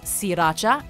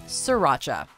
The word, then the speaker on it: Sriracha: century, yet still many consumers routinely mispronounce sriracha as sriracha. Yet, even those who make the sauce have said it's necessary to drop the first R in sriracha in order to pronounce their product correctly, with the reason likely being